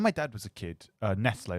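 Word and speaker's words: Nestlé: dad was a kid Nestle was pronounced Nestle and you have was it yeah you'd have Nestles because it was like angiz and now we pronounce it Nestle because that's more Clos probably because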